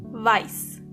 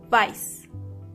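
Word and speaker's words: weiß: Black means and make sure you are pronouncing the correctly. Exactly. White means vice. Vice.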